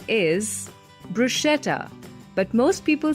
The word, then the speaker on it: bruschetta: a type of garlic bread and the right pronunciation is bruschetta but most people say it as bruschetta yep that's right another new word is fire